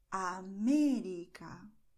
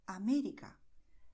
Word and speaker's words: América: So if you see the word with an accent, then you go and stress it. You say, América, perdón, and this is perfect, okay? This is the way we speak in Spanish. América, perdón. In English, the rules for the word stress are very complicated, okay? But in Spanish, no. You see acento, and then you stress this vowel.